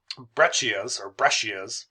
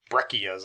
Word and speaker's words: breccias: Breccias, pronounced multiple ways, breccias I've heard too, is instead of rounded gravel-sized clasts, they're more sharp-angled pieces.